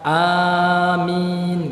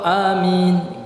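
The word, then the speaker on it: آمين: ayo Bond dengan dipendekkan jadi membacanya boleh dipanjangkan hanya Amin gitu atau Amin gitu Jadi dengan dipanjangkan dan dengan diqashar rezeki pendek Apa makna Amin ini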